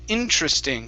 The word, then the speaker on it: interesting: getting there okay uh this word here is pronounced interesting so the stress is at the very beginning okay this uh this e goes away and we so we don't say interesting it's interest interesting interesting interesting there you go